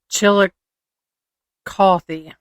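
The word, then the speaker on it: Chillicothe: F y i, it's pronounced Chilli- cothy.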